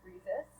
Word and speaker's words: Friesis: light virtual style um my name is miss friesis it runs jesus that's how i help people pronounce it um so i